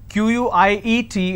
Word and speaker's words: quiet: some quiet means silence q-u-i-e-t is pronounced at quiet quite means q-u-i-t-e so choose the word